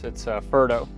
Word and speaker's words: Ferdo: You said my name wrong though. It's not Feder anymore, it's Ferdo.